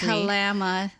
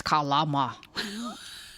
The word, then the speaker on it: Kalama: It's not Kalama, Washington. It's Kalama. Bra.